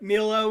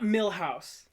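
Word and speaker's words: Milhaud: Network for the record Milo is spelled m i l h a u d not milous Contin euros and we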